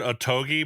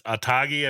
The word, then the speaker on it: Otogi: two of them okay I always said otogi but it's atagi I believe how you say it uh myth myth of